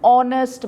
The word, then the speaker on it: honest: don't say how you say our so H is silent and therefore you use a n and more examples are an honest man you don't say an honest man do